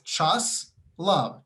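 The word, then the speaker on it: Čáslav: cha cha okay and you know the word slavic right you laugh you slav and it's chas love chop slob test love hilarious snl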